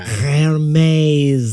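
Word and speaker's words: Hermès: Hermes.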